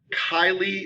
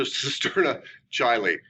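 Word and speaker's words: cisterna chyli: will come back to cisterna chile i mean kylie i'm saying it wrong it's kylie all right everybody essentially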